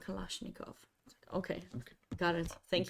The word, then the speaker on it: Kalashnikov: um yeah he was like yeah it's called Kalashnikov okay okay got it thank you um no